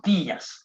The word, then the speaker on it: días: Buenos días. Buenos días. And as you can see on the I, there is that sharp accent, meaning there is a stress on that.